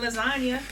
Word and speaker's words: lasagna: You got a silent G and lasagna.